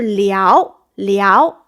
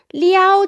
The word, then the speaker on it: 撩: 人很会撩，但是呢，这个字其实它读二声，作为 flirt 这个意思的时候读二声，不是一声，是吧？